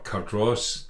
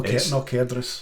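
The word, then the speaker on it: Cardross: the manner of Cardress which isn't actually Cardress or Cardros depending on how you say it. No Cadras. Yeah. No. Or Cadras.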